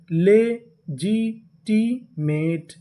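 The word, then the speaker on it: legitimate: मैं आपको नियम बता दूं, अगर आपको इंग्लिश के किसी भी मीनिंग के आखिरी में ई लिखा मिले, क्या लिखा मिले? ई, तो हम लोग ई का उच्चारण नहीं करते। तो यहाँ पे TE को हम लोग क्या पढ़ेंगे? टा।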